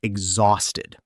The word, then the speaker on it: exhausted: And exhausted. Exhausted. With a Z sound in the middle, not an S sound.